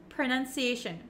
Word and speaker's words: pronunciation: what they are so even though we have an O P R O It's actually kind of pronounced like a u like an uh uh sound sound PR PR and it's very short pronunciation pronunciation PR okay you don't need to open your mouth very wide with an O pronunciation no no no no no